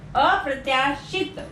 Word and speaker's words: अप्रत्याशित: अप्रत्याशित नहीं होता, अप्रत्याशित, छोटी ई की मात्रा।